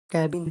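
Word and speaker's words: cabin: कैबिन सी ए बी आई एन कैबिन में सी B consonant है इसलिए इसमें ए का उच्चारण ए होगा क्योंकि ए दो कंसोनेंट के बीच में आया है।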